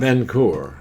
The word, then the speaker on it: Vincoeur: Pronounce your name. Vincoeur.